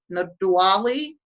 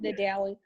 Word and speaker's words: Nadawi: Is it Nadwali? Nadawi. It's pronounced Nadawi.